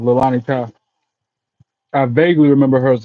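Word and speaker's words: Leilani Kai: Or was it Kalani Kai? Lilani Kai. I said it wrong. Lilani Kai.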